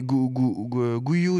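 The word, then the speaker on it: Guiu: on dit déjà la dernière fois je c'est guyou non comment on prononce exactement guou c'est guou ou non voilà je me demandais s'il y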